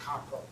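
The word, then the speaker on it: 漢方: That Chinese Hanfang in Japanese is pronounced Kampo. So Kampo medicine is Japanese herbal medicine.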